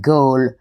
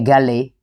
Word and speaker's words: Galle: Now the name GI, some of you might pronounce it Gaul, but local people definitely say GI because the bus driver would be calling people and he'll be shouting gi.